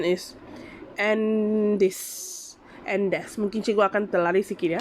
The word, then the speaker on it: Andes: And tadi cikgu Google, dia punya pronunciation is Andes.